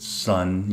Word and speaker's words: sn: zero and 1 and this will end up being the SN of U or we pronounce it sun U the x value